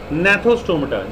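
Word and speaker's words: Gnathostomata: अब बात करते हैं बेटा हम, अच्छा एक और चीज़ है, नेथोस्टोमेटा, जी साइलेंट है इसमें।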